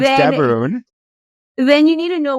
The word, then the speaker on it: Gaborone: And yes, I said the G with the proper pronunciation. Um, Not then, Gaborone.